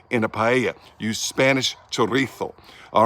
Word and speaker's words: chorizo: got some Spanish chorizo that's a chorizo in Spain it's spelled the same chorizo but in Mexico say tereso in Spanish spell the same and it's a